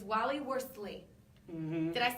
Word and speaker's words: Worsley: It's Wally Worsley.